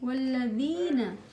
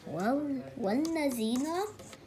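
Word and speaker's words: والذين: Hamza is silent. So, wal. Wallazi. Wallazi. Look at the word. I don't know. Wallazi. The last letter. Tell me the last letter. Na. Good. Wallazina. Wallazina.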